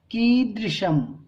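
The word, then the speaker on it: कीदृशम्: किमिदम, कीदृशम, देखिए इसका उच्चारण जो है ना, ये दा और ये जो स्वर है ये री है ना।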